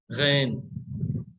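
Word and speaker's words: غین: तो गैन हलक के नीचे से, हलक के आसपास से निकालते हैं।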